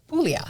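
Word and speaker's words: Puglia: employees do you speak Italian no cuz your pronunciation was on Point pulia yeah yeah doesn't seem like it's that hard to pronounce pulia I do yeah I mean I don't speak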